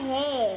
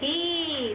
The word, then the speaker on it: he: Cowok he. Hi. Tulis number he. Hi. Ini loh he. Iya, bacanya hi.